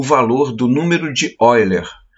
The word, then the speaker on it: Euler: valor do número de Oiler, que Oiler se escreve Euler.